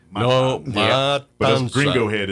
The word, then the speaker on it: Matanza: I would say is it's spelled Matanza. Yes. Matanza. For us gringos, we want to put that N before the T. That's and that's not. It's M-A-T.